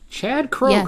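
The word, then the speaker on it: Chad Kroeger: Chad Kroger. Yes. Kroger, was incensed and expressed her emotions on Twitter.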